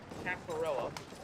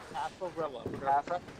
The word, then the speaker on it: Cafarella: right after Kev left have Phil cafarella that is how you say it cafarella cafarella practice cafarella all